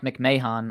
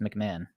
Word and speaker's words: McMahon: they call you Mike McMahan on uh when they're announcing you I don't think they realize that your last name is pronounced McMahon unless I'm the one pronouncing it wrong what's up Daren Houston